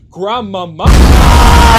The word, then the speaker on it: Grandmama: grandma who honestly wait oh wait I said it wrong it's pronounced Grandmama as the movie States and she was interesting